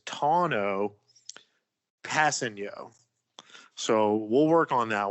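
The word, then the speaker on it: Tanoh Kpassagnon: name i googled it it appears that the pronunciation is tono passing yo so we'll work on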